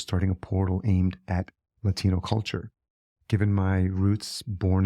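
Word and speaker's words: Latiknow: to this day because in his mind it was Lati no k-n-o-w which unfortunately proved challenging to convince folks it wasn't pronounced latic now and we gave it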